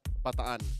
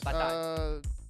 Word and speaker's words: Bataan: Edward, Renegade, and Kyrie are hometown neighbors from Bataan, Philippines. How do you pronounce that? Bataan. But I was correct on the second one. Yes. Bataan.